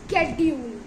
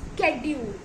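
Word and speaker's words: schedule: इसकी सही प्रनंसीएशन है शेड्यूल इसकी सही प्रनंसीएशन क्या है शेड्यूल फॉर्म ब्लू ओ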